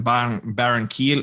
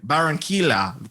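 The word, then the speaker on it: Barranquilla: very good yeah but Shakira was born in Baron Keel uh yeah I actually do know how to say this is Shakira was born in barranquila Colombia on February 2nd 1977.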